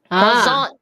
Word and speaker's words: croissant: Craw. Don't pronounce the I. Emphasize the R. You pronounce the I. Craw. And then AN is the Yes. And you don't say the T. And you don't say the T, so it's croissant.